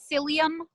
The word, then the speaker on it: psyllium: All Metamucil is what they call psyllium fiber. Psyllium, psyllium fiber, silent P at the beginning.